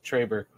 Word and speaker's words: Trey Burke: Yes, Trey Burke.